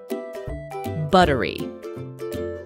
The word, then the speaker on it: buttery: mashed potatoes with butter just like in butter the double tea in buttery is also pronounced as the fast D sound in the American accent